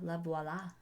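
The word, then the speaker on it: Lavoila: l a v o i l a laola la VOA VOA cuz voila is spelled the o l so and so I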